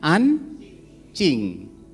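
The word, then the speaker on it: 安静: gambar-gambar gitu ya nah huruf j di sini kalau di ini pingin itu eh J itu di Jakarta J itu dibacanya c charlie jadi bacanya an Cing ya Jadi bukan J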